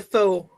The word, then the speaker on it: faux: And that's the faux Rudolph. Yes. Jump back. I pronounce it the French way, but okay.